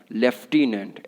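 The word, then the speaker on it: lieutenant: LIU, है ना, LIEUTENENT, लेकिन पढ़ते बोलते कैसे हैं? लेफ्टिनेंट। F नहीं है कहीं पे F इसमें, ठीक है।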